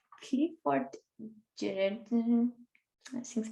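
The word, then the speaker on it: Geertz: Clifford Gerard, assim se pronuncia exatamente.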